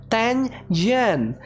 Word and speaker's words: Tangent: It's 2 syllables. Tang-jen.